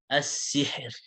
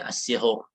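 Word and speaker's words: السِّحْر: As-sihr. As-sihr. Ya, ini kalau berhenti ya. As-sihr. As-sihr, enggak boleh as-sihur. Kenapa? Karena ra sukun dan sebelumnya kasrah.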